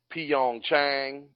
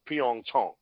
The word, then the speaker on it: Pyeongchang: what we have watched the pronunciation that we're using for is a for the whole city is Pyeongchang and it's an Americanized pronunciation of Pyong Chong that's how it should be fed now I'm not nitpicking